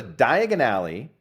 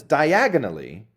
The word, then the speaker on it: Diagon Alley: In the movies, he's supposed to go to Diagon Alley and he pronounces diagonally and he ends up in Borggan and Burks.